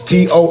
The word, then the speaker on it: Tonawanda: I'm sorry if I butchered her name. Jackie Tonawanda. It's Tonawanda.